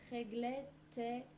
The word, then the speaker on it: réglette est: I'm pronouncing the T of réglette at the same time as the E that is right after.